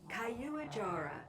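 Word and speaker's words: Caiuajara: Increase genome of Quaijara. I wonder how that's actually pronounced. Let's find out. Kayuajara.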